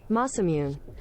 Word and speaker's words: Masamune: Masamune.